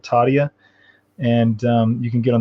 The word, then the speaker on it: Tadhya: It's called Tadia, and you can get on the mailing list.